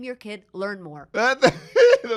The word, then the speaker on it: Learnmore: So that's how you pronounce and that- his name that's is how you prove it. Learnmore, and it's real.